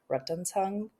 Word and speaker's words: Rettungshund: And if you were to say it in German, it's like Rettungshund.